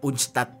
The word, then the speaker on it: UNCTAD: Bacanya tuh kayak UNCTAD.